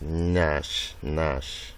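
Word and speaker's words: gnash: The word is pronounced as nash. So we have forge, ring, ground, and new. So where you have GN, it is actually pronounced as N, nash.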